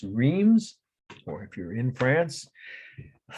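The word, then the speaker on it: Reims: you're wrecking your throat just pronounce it the way the french pronounced the name of the city r-e-i-m-s dreams most people in america would say rheem's cathedral two words location is france and the date is 1428.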